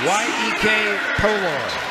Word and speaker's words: Iyekepolor: The last name for this young lady is Iyekepolor, pronounced Yek Polor.